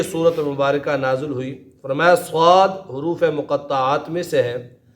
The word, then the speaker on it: صاد: صاد ہی پڑھنا ہے، اس پر مد ہے تو اس کو تھوڑا لمبا کر کے پڑھنا ہے، صاد۔ اور اسی طرح نون،